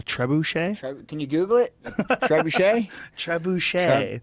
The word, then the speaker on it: trebuchet: Trebuchet? Trebuchet. I'm saying it wrong. No, that's it.